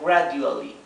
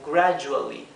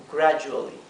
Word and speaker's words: gradually: esto no se pronuncia gradually, se pronuncia gradually, gradually. Siempre que tengan, o casi siempre que tengan una D entre dos vocales, el sonido de la D no es D, es Y, como gradually y como education, education, ¿sí?